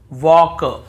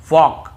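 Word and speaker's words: walk: हो देखिए यहां पर भी हम टॉक टॉक वॉक वॉक चौक चौक यक यक फॉक फॉक ऐसे पढ़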